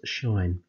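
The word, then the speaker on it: sinh: which we write as sine h now that's pronounced shine and that is defined in terms of e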